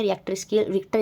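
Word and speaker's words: Richter: हम क्या बोलते हैं रिएक्टर स्केल जो है अलग-अलग नाम से प्रोनाउंस इसको कहते हैं रिक्टर स्केल जो है वो हम इसको बोलते हैं और एक जो डिस्ट्रक्टिव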